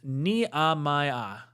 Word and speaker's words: Nehemiah: WL Graves says his name is pronounced Nehemiah.